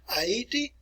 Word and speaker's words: Haiti: Today we refer to it as Haiti, or if you pronounce it like the Haitians would pronounce it, Haiti.